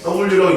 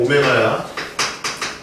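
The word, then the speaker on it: ω: 자, x세제곱은 1의 한 허은 오메가라고 읽는다. 얘 w라고 읽으면 안 돼. 오메가야.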